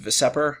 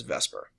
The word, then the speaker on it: VSEPR: shell electron pair repulsion it kind of looks like it should be pronounced veseper but everyone just says Vesper this is grounded on